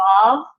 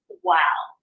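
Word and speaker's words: Waw: We are studying biblical Hebrew, so we're not going to use Vav for this. We use Wow. So that old pronunciation, because you think about it, if this was Vav, but if Beith has 2 different pronunciations, one of B, the other of V, then there would be that lack of distinction. So obviously, there has to be that distinction. This is that W sound there.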